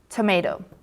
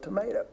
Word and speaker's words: tomato: So, as you can hear from these videos, there are two correct pronunciations for the same word, either tomato or tomato.